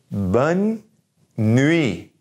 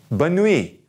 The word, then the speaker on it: bonne nuit: it it's no problem that last T is gonna be silent so bonne nuit bonne nuit all right so really